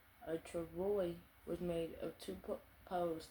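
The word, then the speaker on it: travois: a kind of sled called a TR pronounced Travoy a Travoy was made of two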